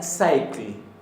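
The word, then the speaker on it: sæll: Bien, felizo es con doble L y se pronuncia cycle, cycle, cycle, pero de una manera no tan enfática, cycle, cycle, cycle, en islandés.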